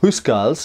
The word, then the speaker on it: housecarls: anglo-saxon England called the house calls now the house cars or hoose girls as it probably originally more closely pronounced are essentially household bodyguards